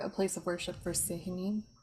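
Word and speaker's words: Sehanine: Is there a place of worship for Sihanin? I can't ever pronounce her name very well. You got it right, Sahinine.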